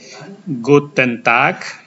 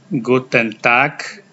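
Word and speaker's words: Guten Tag: sore tidak apa-apa kalian bisa mengucapkan kata ini gutent tak cara bacanya gutent tak G itu artinya selamat siang di malam hari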